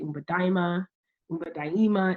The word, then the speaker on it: Umba Daima: uh in Swahili uh you can also say Umba daima is the Swahili pronunciation um you can also